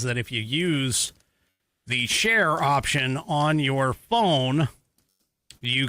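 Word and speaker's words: Cher: Share as in C H E R.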